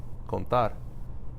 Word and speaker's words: contar: You put the stress on the A. Contar.